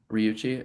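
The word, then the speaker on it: Ryuichi: and when I'm watching them side by side to like the speed of not only Riku and Ryuchi, is that how you say his name?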